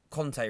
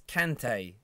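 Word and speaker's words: Kanté: And on that, why have people started calling Kante Conte recently? Commentators, fans, it's Kante. It's spelt with a K and an A. not a C and an O.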